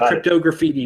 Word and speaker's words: Cryptograffiti: special type of guest cryptog graffiti cryptog graffiti I pronounce it cryptog graffiti but it's like cryptography and graffiti combined into one he makes this these